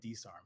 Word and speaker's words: DSARM: DSARMT? It's DSARM. So like DSARM. My people would call me DSARM because. And then the YT is just YouTube. I couldn't get DSARM.